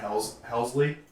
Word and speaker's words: Helsley: if they get into the bullpen yeah Ryan helsley that's how you say it yes um with